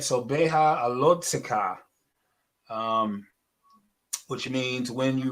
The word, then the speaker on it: Beha'alotcha: We can see the alot, and then we have to pronounce that letter after the tet. Alot zikha. Alot zikha. All right. So beha alot zikha.